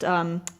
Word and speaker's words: Loaghtan: Right now I'm spinning some Manx, and I believe it's pronounced Lockton, Loaghtan.